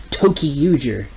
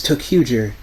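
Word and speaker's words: Toei: to pronounce it correctly it's not toyer it's toer complaining about girls being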